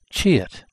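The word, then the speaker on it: 치읓: and the name of this character is the chit pronounced c h i e u that's the name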